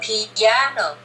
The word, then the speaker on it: piano: use it like that now you need to change the pronunciation of the instrument that you play remember it's three two so i want you to shoot yourself up on the second syllable i still play the